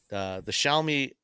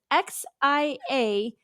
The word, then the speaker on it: Xiaomi: All right, last one is the Xiaomi SU7.